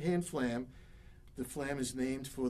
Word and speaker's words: flam: rudiment should sound like it's got one syllable not two it's not far lamb it's flam but there are two distinctly different sounds the f sound is almost a grace note to the primary which is the lamb sound flam one syllable so